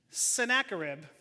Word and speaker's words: Sennacherib: Let's see if I can pronounce his name right. Sennacherib.